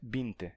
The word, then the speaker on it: vinte: Então, em galego e no norte de Portugal, a gente tem a pronúncia binte.